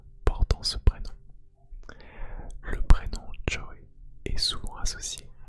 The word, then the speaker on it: Joey: c'est le prénom jooé qui ne se prononce pas Cho mais Joy avec le y à la fin Joy Joy Jo Jo